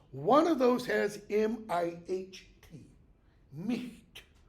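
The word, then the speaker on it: miht: One of those has M-I-H-T, Micht. The H becomes G-H, okay? And then later is no longer pronounced.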